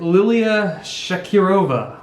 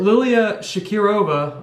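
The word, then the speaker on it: Liliya Shakirova: between lauren murphy and lilia shakirova i believe that's how you pronounce it she's from uzbekistan so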